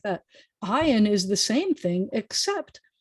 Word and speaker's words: Ayin: So if the name is Ayin, you're going to say that the consonant starts with a sound of ah, and that would be very embarrassing. Please don't ever say that, because ah is a vowel sound.